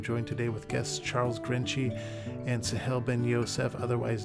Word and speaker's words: Grenci: Grenci. Okay. Well, I was pronouncing it wrong all this time. I was saying Grenci. Many people pronounce it that way. It's actually a Turkish name.